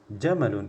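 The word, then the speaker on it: جمل: nama orang Jamal ya dia pakai panjang mimnya biasa ada Alif setelah mim Ya tapi kalau pendek seperti ini jamalun jamalun itu artinya unta Nah jadi kalau kita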